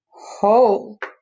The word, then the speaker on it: hole: Hole. There was a hole. That's probably why he broke the bike. Hole. You hear the O and not the E. That's a long O sound.